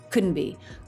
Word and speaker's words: couldn't be: no tea at all T dropped right from n smoothly into B with no break couldn't be couldn't be couldn't be